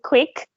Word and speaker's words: Kwik: Jim Quick. Quick, like his surname is spelled Kwik, right?